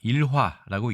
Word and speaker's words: 逸話: 일단 도금과 뜻부터 알아보겠습니다이 단어는 우리가 일화라고 읽습니다 명사 이고요 자 어